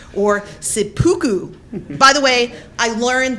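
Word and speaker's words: seppuku: a Corruption of the real term harakiri or sipuku by the way I learned the proper pronunciations for both of those on YouTube imagine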